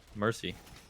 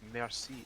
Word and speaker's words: merci: Mercy. Okay, it's merci. I butchered that.